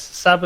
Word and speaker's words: Saba: or position to ever pronounce or try and pronounce your surname your second name go and have a go sabha yes saba is good okay i'm imagining it's italian right